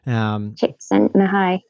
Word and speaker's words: Csikszentmihalyi: We won't even mention the unpronounceable Polish or whatever, wherever he's from, name. Csikszentmihalyi.